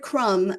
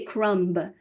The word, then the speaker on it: crumb: a crumb and importantly the word crumb has a silent B we don't say crumb crumb we say crumb crumb crumb um it's a very